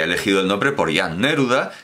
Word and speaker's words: Neruda: llama así claro naturalmente no se pronuncia a neruda de jan neruda es neruda porque el checo todas las palabras tienen el acento en la primera sílaba empezando por empezando por